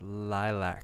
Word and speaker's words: LYLVC: Oh, there's a V in there. LYLVC. That's too many consonants for American language. It sure is. Pronounced lilac. Oh, okay, there we go. So it's like an upside down A.